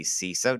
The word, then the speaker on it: CISO: am here with Kevin Gowan he is the ceso did I pronounce that right you did all right he